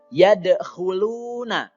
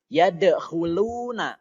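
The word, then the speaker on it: يَدْخُلُونَ: harus dibaca pantul ya ya the huluna lo itu dibaca panjang namanya adalah Made Thobi'i panjangnya dua harokat saja Kemudian yang selanjutnya see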